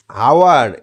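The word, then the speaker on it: hour: অ্যান্ড আওয়ার, এইচ ও ইউ আর, এটা ইংরেজিতে উচ্চারণ হয় আওয়ার, এইচ এর উচ্চারণ হয় না, সেই জন্য এখানে কি বসবে?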